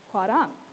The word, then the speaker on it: 화랑: We've got hua, and then we've got our second syllable, which is rang. It's a little bit closer to an L and an R sound mixed together, so putting it all together, it is hwarang.